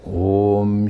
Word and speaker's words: Om: Now when Om is pronounced, it's a O, like you just whisper this word to you, open. It's like that O. It's like you're about to kiss somebody, O. Om, like that.